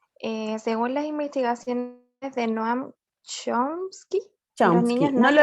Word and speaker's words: Chomsky: ¿Cómo se pronunciaba, profe? Chomsky.